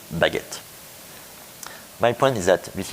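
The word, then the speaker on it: baguette: see this this world I do believe that in Japanese you will say that Bago but actually in French it's baguet my point is that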